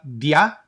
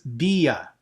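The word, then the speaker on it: διά: Okay, again, not a diphthong, so it's not dia, it is dia or dia.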